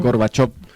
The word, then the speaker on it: Gorbachev: Así que Se podría decir que Gorbachev se pronuncia así, ¿no? Gorbachev, Se podría decir que gracias a las reformas que hizo, ¿no?